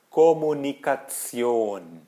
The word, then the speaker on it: Kommunikation: Tion, em alemão é como se tivesse um Z ali no meio. Tion, né? Kommunikation, Funktion, Funktion.